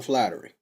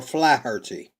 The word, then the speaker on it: Flaherty: Because I was done talking about Colin Flattery, or Flaherty, whichever way you want to pronounce it.